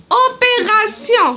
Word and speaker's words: opération: الكلمه الثانيه اوبيراسيون تي اي او ان كتنطق في الاخير سيون. Opération.